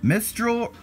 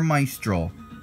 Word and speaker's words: Mistral: like I get right mistral or my stroll I feel like it's Mistral I feel like Mistral would be right but if I'm wrong